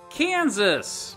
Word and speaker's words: Kansas: Kansas! And those English speakers pronounce the S at the end of words, by golly.